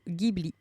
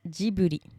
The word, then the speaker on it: Ghibli: deux prononciations sont acceptées la prononciation japonaise c'est bien jibui comme vous pouvez le lire en Romadi on voit bien que le studio s'écrit avec un j en premier et donc c'est jibu en revanche le studio tient